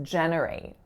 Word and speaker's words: generate: is more subtle but listen to the first and second syllable and tell me are they the same sound when I say generate so they're not right so I'm not saying an e in both positions so it's not jate